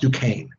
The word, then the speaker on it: Duquesne: frontier of pennsylvania at a place called fort duquesne it's duquesne is how it's spelled d u q u e s and e but it's pronounced duquesne this is actually the first military fight that